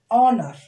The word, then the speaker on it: honor: H is silent.